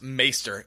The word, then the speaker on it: maester: he was great um actually it's pronounced maester we got a ton